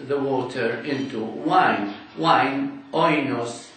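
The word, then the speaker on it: οἶνος: Wine, oinos or enos, according to the modern pronunciation.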